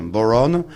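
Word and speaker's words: bodhrán: Ça s'appelle c'est en gaélique, c'est un instrument gaélique qui s'appelle, ça s'écrit bodhran, mais enfin ça Oui, se prononce voilà. boron.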